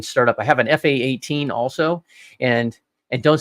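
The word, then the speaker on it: F/A-18: up I have an fa-18 also and and don't say F-18 because I'll have to we're gonna have to have a talk don't say F-18 it's an fa 18 it's a fight attack 18 team I hate it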